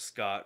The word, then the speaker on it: Scott: his uh his character's name was Scott rhymes with snot and that's right um